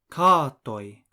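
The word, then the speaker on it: katoj: is carto cats is car toy the sound written as OJ is pronounced like the oi in the English word toy it is never pronounced like the OJ in Dodge here's another example house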